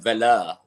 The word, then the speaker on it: Vela: I am Vela. Which doesn't rhyme with hella at all.